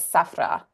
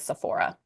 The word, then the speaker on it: Sephora: name is Sephra. And so Ah, kind of how we pronounce it here in the West is Sephora.